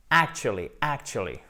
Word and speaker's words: actually: C'est une voyelle courte, ce n'est pas une voyelle longue. Actually. OK, guys? Puisque vous avez l'accent tonique ici, donc on entend bien ce A court, c'est en fait à la base.